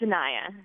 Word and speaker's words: Naya: It's Naya. Naya. Get it right, Lance.